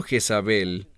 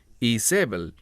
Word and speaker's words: Jezabel: a esa mujer Jezabel ahora el término Jezabel Esa es la pronunciación en español en hebreo es isebel y el término I